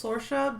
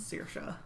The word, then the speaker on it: Sorcha: It was Sorcha, but it turns out the pronunciation is Sorcha.